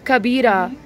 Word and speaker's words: Kabita: Okay, how do I pronounce it? Kabita.